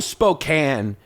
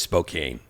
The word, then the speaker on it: Spokane: things first of all Spokane doesn't flow as easy as Spokane it's also k a n e yeah that's what I said I said if you want it to be Spokan spell it different cuz it's spelled Spokan it's such a New Yorker